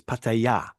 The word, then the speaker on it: Pattaya: But the correct way is Pattaya.